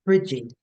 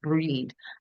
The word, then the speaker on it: Bride: it, who don't know, Brigid, but it's actually pronounced Breed.